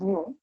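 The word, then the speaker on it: ν: pronounced as mu nu which seems to be v but this is new which is uh you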